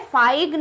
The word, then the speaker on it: feign: फाइग्न इज the right pronunciation and the spelling is option number B.